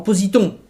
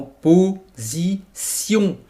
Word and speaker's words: position: Allez, en positon cria-t-elle. Non, non, non, en position. Le S se prononce Z et le T se prononce S.